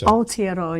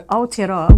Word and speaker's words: Aotearoa: Well, isn't New Zealand, I'll get Lou to pronounce it so I get it. So it's Aotearoa, New Zealand. Now, that's the official name of New Zealand now, isn't it? So, again? So Aotearoa, which means land of the long white cloud.